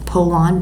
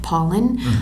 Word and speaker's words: Pollan: And that, along with other work from like Michael Pollan, I think his name is, you say it looks like Pollan, but he pronounces it Pauline.